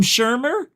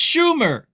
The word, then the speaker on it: Schumer: Did he call him Shermer? No wonder why he didn't answer. Here, listen. Leader Shermer? Leader There Shermer. is no Shermer. It's Schumer.